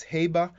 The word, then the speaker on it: Haber: is called uh the hover process um i'm not sure if some of you uh prefer to pronounce it as heber okay um if you do well that's really up to you okay so uh in